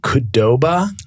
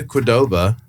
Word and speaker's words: Qdoba: I think it's pronounced Qdoba.